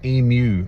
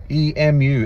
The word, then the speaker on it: emu: Let's help America pronounce emu right. E-M-U, it's emu, not emu.